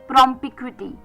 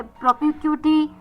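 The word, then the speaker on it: propinquity: प्रमपिक्विटी प्रमिक्विटी प्रमिक्विटी पी आर ओ पी आई एन क्यू यू आई टी वाई प्रोपिक्विटी पी आर ओ पी आई एन क्यू यू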